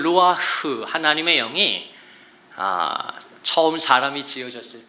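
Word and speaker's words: רוח: 이게 히브리 말로는 루아흐, 이 히브리어 루아흐를 발음하려면 자연스럽게 숨을 쉬게 됩니다. 이게 루아흐예요.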